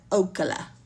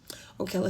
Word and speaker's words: Ocala: Home of the thick women with thick thighs, and pronounce Ocala, not Ocala. It's Ocala.